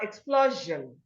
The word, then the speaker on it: explosion: So because in this word, the letter O here is a vowel letter before S-I-O-N. The O makes the S-I-O-N here to sound j, not sh. So you have explosion.